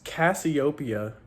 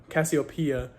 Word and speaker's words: Cassiopeia: Uh I looked it up and it's Cassiopia Cassiopia. Um pronounced right and I I was like okay that's awesome.